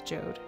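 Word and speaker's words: Jowd: can't flush this toilet apparently it's pronounced like J which I always said Jou because there's a Jou in the um the opening sequence of swen 2 but apparently it's jod so man I don't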